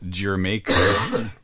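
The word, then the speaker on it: D'yer Mak'er: him what that meant well they because the mispronunciation no nobody it makes sense after you hear it it's gerer right which is a dumb name for for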